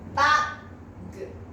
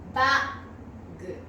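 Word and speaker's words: バッグ: 4 番の正しい発音はバッグ、バッグ、バッグですね。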